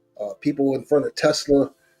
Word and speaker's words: Tesla: how to say it he's not saying Tesla he's saying tesler I love these tesl